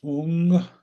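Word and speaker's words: hūṃ: teachers we focus on the syllable hung which if you wanted to think of it in English letters might best be thought of as ho o o n g and we say it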